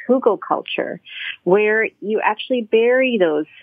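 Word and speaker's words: hugelkultur: the wood decomposes so look up frugal culture it's spelled h-u-g-e-l hugo culture it's a practice that is readily used across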